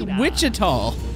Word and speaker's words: Wichita: It's Wichita. Wichita Falls. Okay. That's the first time I've heard it called that. Well, that's how it's pronounced, so everyone's doing it wrong.